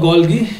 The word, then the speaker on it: Golgi: तर बघा sometime is also called as अ गॉल्जी body और अ गॉल्गी ॲपॅरेटस. मी तुम्हाला सांगितलं की काही लोक गॉल्जी ॲपॅरेटस म्हणतात, काही लोक गॉल्गी ॲपॅरेटस म्हणतात.